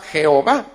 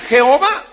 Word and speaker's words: Jehová: vista el hecho que al poner las vocales de ado nay la intención de los más sobre tan no había sido inventar el nombre jehová sino que la intención había sido obligarlos a que pronunciarán adonay es decir señor pero como eso se perdió de la gente lo que hizo fue comenzar a leerlo así como estaba escrito y se leía jehová ahí es donde apareció